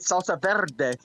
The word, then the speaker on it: salsa verde: order the salsa verde, I'm pronouncing it salsa verde because it's fun when you roll your R's.